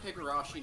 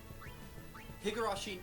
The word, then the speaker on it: Higurashi: I'm not sure if Higarashi Nooron will break you. Am I pronouncing that right? I always mix up long titles. Higurashi.